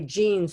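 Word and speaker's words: Jeanes: people have written about that by the way jeans is spelled j e a n e s i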